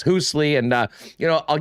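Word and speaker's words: Hoosli: way at h-o-o-s-l-i hoosley i think sometimes i've been pronouncing it hoosley but uh yes hoosley and uh you know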